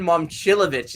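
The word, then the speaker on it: Momčilović: not go there yet Milan momchilovich is by the way how you say it how much would you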